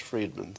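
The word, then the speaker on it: Fridman: him i'm seeing the it's pronounced friedman thank you and musk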